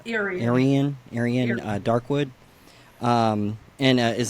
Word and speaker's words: Irian: you say your name again again it's AR Aran Aran Darkwood um and is that your that's